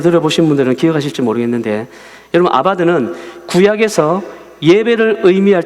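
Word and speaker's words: עבד: 자, 뭐라고 읽느냐면은 아바드라고 합니다.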